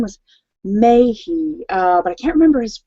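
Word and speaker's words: Mahy: And so I guess and his name is actually pronounced May, Ryan May, but it's spelled M-A-H-Y.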